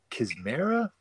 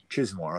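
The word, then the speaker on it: Chizmar: It had I've never heard this guy's name pronounced, and so like Richard Kismera, is that how you say it? Chismore, okay.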